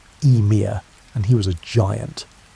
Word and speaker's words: Ymir: The first being to emerge from the ice was Ymir, pronounced Ymir, and he was a giant.